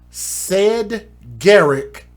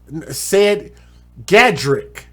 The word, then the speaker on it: Cedgadrick: his name from but it is very hard to pronounce his name is said garrick harris said garrick said gadrik said gadrik y'all not gonna even